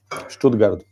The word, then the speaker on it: Stuttgart: Stuttgart. I'm correcting you so you can learn how to pronounce it.